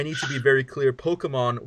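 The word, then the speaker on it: Pokémon: Pokemon with an accent on the E.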